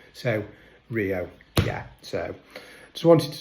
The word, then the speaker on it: Rio: I realized because obviously Rs are pronounced like H's. So Rio.